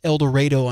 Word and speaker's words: El Dorado: Yeah, a lot of people probably say El Dorado Springs, but it is El Dredo.